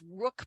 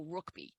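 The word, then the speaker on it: Ruickbie: the name of Leo I don't know how you say his name but it's Rook B r-u-i-c-k-b-i-e so I think it's Leo rookby in my opinion Leo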